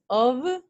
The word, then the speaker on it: of: So if you're gonna say the first one, you have to pronounce this one with this stressed schwa, and then with V.